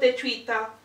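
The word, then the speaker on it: Daechwita: So this was called Daevhwita by AGUST D, or also known as Sugar, also known as Minyoongi, also one of the amazing rappers of BTS.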